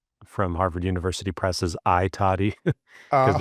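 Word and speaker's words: I Tatti: I was mispronouncing the E toddy from Harvard University Press's I toddy because it's a capital I space and then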